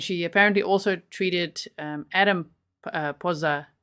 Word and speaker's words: Pozza: My last name is Pozza, Pozza.